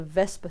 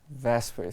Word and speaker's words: VSEPR: quite the mouthful yep that's why we simplify it and pronounce it as the vasper theory for ease of use vasper theory that sounds much